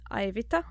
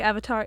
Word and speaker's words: Aivita: So my name is Aivita. That's how you pronounce it in Latvian. Although I've heard very funny pronunciations of my name here in America, like Avatar. Yes, Justin calls me Avatar.